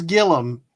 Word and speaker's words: Gilliam: straight live streaming and it is Gillum even though it's spelled Gilliam and it's felt like it is spelled like William but with the G instead of a w and I don't hear y'all calling him William so stop it from William but anyway that's just